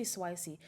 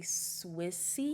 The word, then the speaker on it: SWICY: UNIS put out I want to say Swicy, but it's technically Swissy. Right, they don't even say Swiss. They just say Swiss. The Y is silent. Swiss.